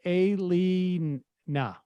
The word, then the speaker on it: Alina: about my question yesterday my name is pronounced aylee nah alina oh okay and